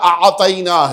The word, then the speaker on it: اعطینا: متوجہ ہوئے نہیں ہوئے، دونوں کے تلفظ میں فرق محسوس کیا، وہاں پہ آتینا ہے، یہاں اعطینا ہے۔ وہ جو جناب سیدہ کے لیے استعمال فرمایا وہ عین والا ہے اور اس کے بعد توئے ہے، اور جو قرآن مجید